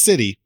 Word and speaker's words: C1ty: Nike City and it's it's pronounced City but the I is a number one it's a new it's